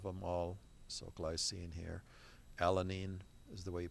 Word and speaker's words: alanine: Alanine is the way you pronounce that.